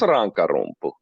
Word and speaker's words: Rankarumpu: Is it Rankarumpu? That's pretty good pronunciation. It's Rankarumpu.